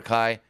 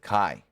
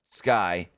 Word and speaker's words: Kai: the only one who saw the benefit of Kai, which she called Sky, and then goes, yeah, I know I said her name wrong.